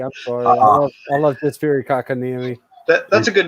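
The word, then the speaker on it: Kotkaniemi: Along with Philip Deneau, Joel Armia, Jesper Kakaniemi. Yes, I did pronounce it right, Thomas. One of the best things in hockey. I'm sorry. I love Jesper Kakaniemi.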